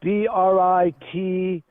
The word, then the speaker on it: Brighteon: Brighteon is Briteon. Brighteon. I think it's spelled with it's no GH in there.